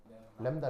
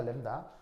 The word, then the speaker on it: 람다: 어떻게 읽는다고 어떻게 읽어요 람다 람다 그래서 그 읽을 때 램브 다거 발음으로 쓰자면 그래서 램브 다인데 이제 이게 자음이 두 개니까 이제 약하게 발음해서 램다 이렇게 표현을 하는 거죠 그 정확하게 램브 다가